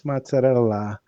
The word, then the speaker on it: mozzarella: names of things like for mozzarella they call it Mel no no no it's mozarella and pastoli isoli not